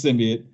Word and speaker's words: symbiote: It's not an argument. It's symbiote. That's how it's pronounced. Yes, it's symbiote.